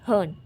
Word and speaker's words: Hearn: रही हूँ LAFCADIO और यहाँ पे HEAM लिखा हुआ है हर्न, बल्कि होगा HEARN हर्न।